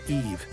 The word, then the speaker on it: Aoife: To mend the relationship, he offered Lir the hand of his beloved daughter, Aoife, pronounced Eve, in marriage.